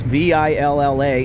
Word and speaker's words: Villa: You pronounce V-I-L-L-A in Spanish as Villa. So that's why I just automatically, right or wrong, I just always say I'm at the Villa Market. But I understand it's spelled Villa.